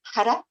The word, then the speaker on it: Har: And that is also, you have an R in, here it says har. It's hara, hara, hara. That's the way you pronounce that.